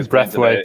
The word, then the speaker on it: Brathwaite: Is the umpire a Brathwaite or a Braithwaite? Because it's a Brathwaite with only the one. Yeah, it's spelled the same way as Craig. Brathwaite. Okay. Because Carlos and Craig are spelled differently, aren't they? They're different Braithwaites. So no, it's a Brathwaite. It's just Breath, and then Carlos has